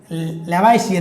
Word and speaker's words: Lavoisier: चलिए अब बात आती है, एक है साइंटिस्ट है एंटोइन लेवाइसियर जो भी है। ठीक है, अब हिंदी में लेवाइसियर, इंग्लिश में इसका जो स्पेलिंग है वो देखो, ANTOINE LAVOISIER।